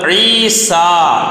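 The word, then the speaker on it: عيسى: 2-ാമത്തെ പദം ഈസ. ഈസ കഴിഞ്ഞിട്ടൊരു ചെറിയ നീട്ടാണ് ഈസ, പക്ഷെ അവിടെ യാ ആണുള്ളത്. ഈസ സാറിന്റെ സീനിനെ മേലോട്ട് അലിഫ് കൊടുത്ത് നീട്ടുന്നില്ല.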